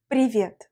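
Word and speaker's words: привет: mot que nous allons apprendre ces prix viennent prix viêt vas-y prononce avec moi prix rien prévient c'est l'équivalent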